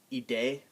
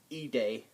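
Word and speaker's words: Idee: sound or can or it can have a e sound like the word e day the word e day is a idea it sounds e day or we have the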